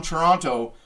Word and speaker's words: Toronto: The Toronto Maple Leafs, or if you're from Toronto, because you don't pronounce the second T, beat the Flyers 5-2.